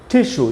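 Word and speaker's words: tissue: दिखाई पड़ेगा एग्जांपल से जैसे टिश्यू देखिए एस और यू जो है वो बीच में है वर्ड के बीच में तो भी एस से श बन रहा है टिश्यू नहीं तो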